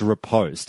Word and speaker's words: riposte: It's definitely pronounced riposte, at least in my mind.